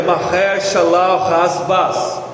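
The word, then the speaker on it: Maher-shalal-hash-baz: e escreve nela em caracteres legíveis aí a pronúncia hebraic é marer shal rasas né que significa rápido despojo presa segura verso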